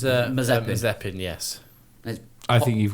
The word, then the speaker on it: Mazepin: We had split drivers in the Force India with Lucas Auer and I keep wanting to call him Nicholas Marzipan. No, is Mazepin.